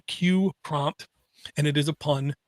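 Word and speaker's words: QPrompt: can load this out it's called q prompt and it is a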